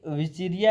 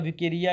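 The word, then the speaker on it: Wuchereria: और ये जो ब्रगेरिया की जितनी भी आपके स्पीशीज हो जाती हैं देखो ये जो आपकी विचरिया है जो भी आप विकेरिया या विचुरिया पढ़े हैं आपकी मर्जी है पर जो डब्ल्यू वाली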